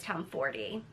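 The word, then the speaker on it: Tomforde: The next book I want to talk about is Play Along by Liz Town 40.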